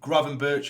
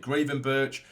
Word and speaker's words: Gravenberch: We now have, Carvalho, Gravenberch, even though some people have told me to pronounce it Gravenberch. I'm going to say Gravenberch because it's just the way I say it.